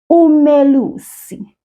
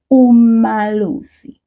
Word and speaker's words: umelusi: But you might find that some people might say umalusi. That is also very correct, but we don't use it a whole lot.